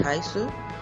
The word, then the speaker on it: heiße: Tu peux dire Hallo, ich heiße, bonjour, je m'appelle, et prête bien attention au ha dans Hallo et dans heiße.